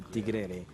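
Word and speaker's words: tíguere: En República Dominicana, el concepto de tigrere, que se pronuncia como tigre en inglés, es un gato de la selva, que es aventurero, astuto.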